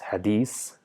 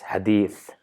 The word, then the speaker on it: Hadith: we see that the in Urdu it is pronounced as hadees which might be correct in Urdu but for Arabs that's incorrect it's neither Hadith it's nor Hadith it's Hadith mixture of both where the tip of the tongue touches the top of the tip of the top two incisors to produce the sound Hadith so so this the